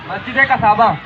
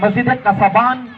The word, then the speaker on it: मस्जिद कसाबान: अब शायद जहन में आ जाए आपके, एक मिनट सुन लें मस्जिद कसाबा, चलें प्रोनाउंसिएशन थोड़ी सी गलत है इनकी लेकिन आंसर सही है। मस्जिद कसाबान कराची की पहली मस्जिद थी जो शहर कराची में सबसे पहले तामीर हुई चटाइयों से।